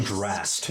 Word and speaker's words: Drast: yeah, King Drast. Drast. Drast. With a hard ST.